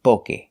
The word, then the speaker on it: poke: In Japan, they say poke. Well, in English, we don't talk like that, but people pronounce it very similar. Poke, poke, poke. Some people say pokey, some people say poke, but correct is poke.